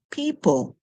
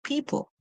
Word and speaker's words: people: sound we have e the O is silent and then we have